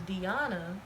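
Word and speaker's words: Dyionne: but it's spelled. My middle name is Deanna, which is where my, channel name come from.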